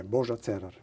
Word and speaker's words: Božo Cerar: Yeah, Božo Cerar. You say it with a little bit of a roll in there.